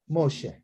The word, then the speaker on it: Moshe: So this is Mo, and then She. Moshe.